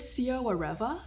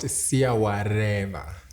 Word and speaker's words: SIYAWAREVA: Is it SIYAWAREVA? Almost SIYAWAREVA. Whatever. Yes, the R's gotta roll.